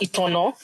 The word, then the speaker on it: Itana: The name Eterana which is actually correctly pronounced Eterno is a Euroba word which means to ignite.